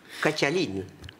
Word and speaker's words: Catalina: Catalina, en plus.